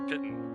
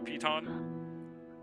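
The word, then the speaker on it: piton: I always called it a pittant, but is it a peton? It sure is.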